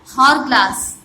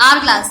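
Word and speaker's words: hourglass: हॉर ग्लास, sorry आर ग्लास, तो यहाँ पे क्या लगेगा AN. क्या लगेगा N, बिकॉज यहाँ पे H जो है वो साइलेंट है.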